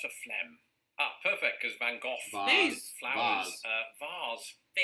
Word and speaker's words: Van Gogh: yeah yeah um yes in britain we say van gogh here in america growing up i was conditioned to say van gogh but increasingly i've heard americans say things like van gaach or van gogh i wonder if doctor who is that i've heard that the dutch is closer to that first one you said there but or something you